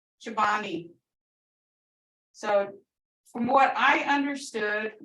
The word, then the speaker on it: cepvne: So I've seen this spelled Cepvne, Chobani.